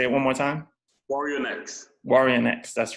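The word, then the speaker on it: Guarionex: I always have trouble pronouncing his name. What is it? Say it one more time. Warrionex, that's right.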